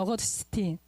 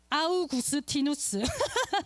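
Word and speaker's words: Augustinus: 어거스틴, 아우구스티누스 라틴어로 이렇게 발음하거든요. 영어로 어거스틴인데, 이 사람이요 서방 최고의 신학자예요.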